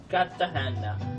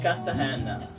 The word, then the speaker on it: Cartagena: Cartagena. Now I know how to pronounce it. Cartagena.